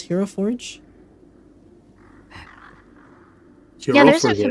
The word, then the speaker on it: Hero Forge: tab that says Hero Forge. And then, if you linked your Hero Forge account already... Oh, there she is. Found her. It's pronounced Hero for day.